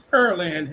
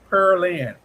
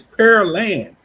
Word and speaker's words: Pearland: It's per land, not peril. It's pear like P E A R. Pear and then land. I always messed it up. I always kept saying per.